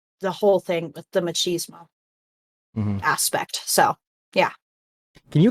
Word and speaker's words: machismo: with my dad, the whole thing with the machismo aspect. So yeah. Can you explain? You kind of cut out a little bit there as you said. How do you say that word? Machismo. Machismo.